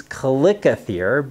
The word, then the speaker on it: chalicothere: Now, I've also looked under the online Greek pronunciation tool, and it suggested calicothere. So I'm going to use calicothere because that's what I'm used to. But all of these other pronunciations are equally correct, and the word stems from the Greek for stone beast.